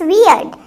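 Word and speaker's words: weird: अजीब होता है वियर्ड, तो क्या बनेगा, इट्स वियर्ड। इसको व से प्रोनाउंस करना, अगर ब से करोगे तो वो दाढ़ी बन जाएगा, बियर्ड।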